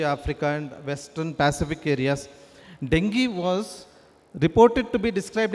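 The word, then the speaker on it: dengue: Dengi it should be pronounced as it is not a dingu fever. It is a dinghi actually.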